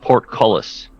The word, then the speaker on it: portcullis: Portcullis, as in like a seaport.